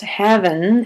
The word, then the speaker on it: heaven: Um, one more thing: Heaven, besides being pronounced "havin'", having, it's also similar to the pronunciation of haven, and haven is a